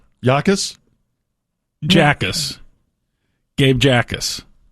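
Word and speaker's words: Jacas: Well, Yakis Jacus. Gabe Jacus. He pronounces it ais. No. with the J silent.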